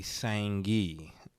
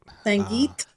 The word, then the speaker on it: Sangeet: Yeah, I remember a while ago we were talking, and you were talking about the Sangi, if I pronounced it right. Sangeet.